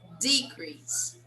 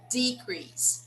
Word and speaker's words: decrease: Take letter C for example. Decrease. A decrease. It's a noun. Now decrease. Decrease. It's a verb.